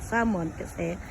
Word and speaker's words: salmon: sa sa atin Pero dito they call salon silent L now we can see